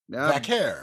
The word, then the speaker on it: Vaquer: If you wanted me to watch Stephanie Vquashon, I don't Vakair. Is that correct? Vakair. I believe that's how you say it.